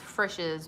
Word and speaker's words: Frisch's: It's pronounced Frisch's Big Boy.